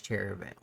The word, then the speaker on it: Cherryvale: And your first stop is going to be pretty much head towards Cherryvale. Cherry Vale. Vale. Yeah, well, there's an E there, so I'm pronouncing it Cherryvale.